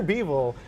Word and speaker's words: Bivol: Is that who you pronounce Dimitri his? Bivol, yep.